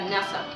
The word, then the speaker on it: nasa: Enaltecido significa nasa, elevar. Nasa, acento en la A, significa elevar.